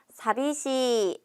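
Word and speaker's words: 寂しい: 이형 용사를 먼저 봐야겠죠 외롭다는 사시라고 합니다 같이 발음합니다 사비시 다시 한번 사비시 마지막으로 사비시 우리 외롭지 않아요라고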